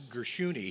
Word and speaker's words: Gershuni: Now, there was also David, it's pronounced Gershuni.